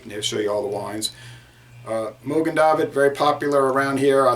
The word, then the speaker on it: Mogen David: bit the mogen David or most people saved mogen David and some people pronounce that Morgan David no are no are mogen David wine company